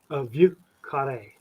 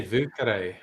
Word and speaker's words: Vieux Carré: Dave, how do you pronounce it, Dave? Vieux Carré. That's pretty nice. That's not bad. That's not bad. I would just say Vieux Carré.